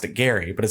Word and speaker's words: Gerry: that we all say gerrymandering because he actually pronounced a Gary but it spelled GE rry but we also